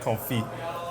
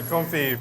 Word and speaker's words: confit: Firstly, I know you don't pronounce the T. It's duck "con-fee." It's French. So? They don't say T's over in France? Not really. So, confit.